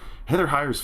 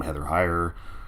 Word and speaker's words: Heather Heyer: in the song, where the name Heather Heyer rhymes with magnifier, and I found it really chilling and really, just on the nose.